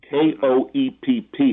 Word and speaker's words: Koepp: successful writer now for many years, David Koepp, K-O-E-P-P. He's so successful now that people even pronounce his name correctly.